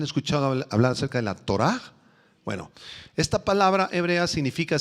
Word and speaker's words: torá: la palabra ley es la palabra hebrea torah con h al final y acento en la tor han escuchado hablar acerca de la torá bueno esta palabra hebrea